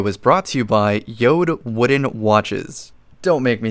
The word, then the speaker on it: Jord: just the pronunciation of the company j o r d but pronounced yod sounds like some kind